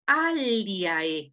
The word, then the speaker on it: aliae: Es una palabra trilitera en donde li es la segunda sílaba. A, li, ae. Tengo que separar la sílaba ae.